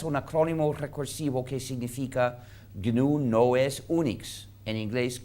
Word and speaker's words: GNU: GNU es un acrónimo recursivo que significa GNU no es Unix. En inglés, GNU is not Unix. En inglés se pronuncia GNU, pero en castellano es aceptable pronunciarlo como GNU, como si comenzara por ñ.